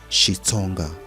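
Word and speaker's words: Xitsonga: The XI pronounced Shi is a Bantu grammatical prefix denoting language of.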